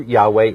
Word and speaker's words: Yahweh: is the Jewish encyclopedia now Jehovah or Jehovah a mispronunciation of the Hebrew Yahweh the name of Elohim the pronunciation of Jehovah or yahovah is grammatically impossible which is another thing